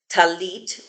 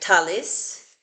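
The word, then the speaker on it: טַלִּית: And the two words that are inside, we've got talit, which they write talis, and a ring, which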